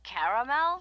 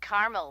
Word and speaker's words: caramel: Oh, the caramel? Yeah, that's what I said, Tina. Actually, you said caramel when it's pronounced caramel.